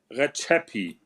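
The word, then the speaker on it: Rexhepi: Yeah, it's Retsepi or it's Rexep. I don't know what the fuck it is. But as he says, it's Recepi. He has friends in Albania, so that is how he pronounces it, and I'll give him the authority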